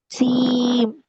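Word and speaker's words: ج: জিম। জিম। হরফটার নাম জিম। জিম। শক্তভাবে উচ্চারণ করতে হবে, 3 আলিফ টেনে পড়তে হবে।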